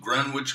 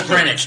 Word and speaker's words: Greenwich: Yeah, because it's Greenwich, not Greenwich. No, I can never say that fucking word right. There's no Well, W you there.